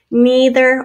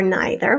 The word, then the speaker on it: neither: Neither or neither, whichever you say, and the er sound at the end there.